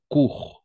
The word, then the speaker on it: cours: j'ai fait mes courses attention dans ces cas-là on va prononcer court simplement court oui c'est